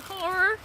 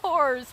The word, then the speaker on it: horror: Let's talk about sex and horror. Here we go. Okay. Horror. Not horrors. Horror. Horror. Horror. You really gotta pronounce that last R.